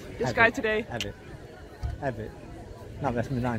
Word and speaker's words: Avit: Avit.